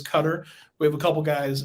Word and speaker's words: Qatar: Yeah, I think most people probably say Qatar, but the I guess the proper pronunciation is Qatar.